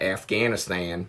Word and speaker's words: Afghanistan: It's hard for me, but I've now learned that Afghanistan is not the right way to say it.